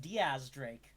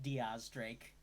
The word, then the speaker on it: X Drake: One Sir Francis frake also his name is pronounced Diaz Drake which is why I take issue with the